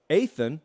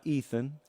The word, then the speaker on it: Athan: Athan, not Ethan.